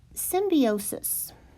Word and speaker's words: symbiosis: one of those also symbiosis this is an important biology term and it's sim be o sus I've also had professors that pronounce that symbiosis that I'm going to